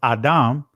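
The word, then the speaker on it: אֹדֶם: as you see here it says uh odin right which is actually in the ancient is pronounced adam it says redness an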